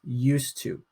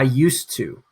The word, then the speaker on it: used to: past activity and that's used to but we don't say the d we actually go to the t in our pronunciation so say that with me i used to i used to stress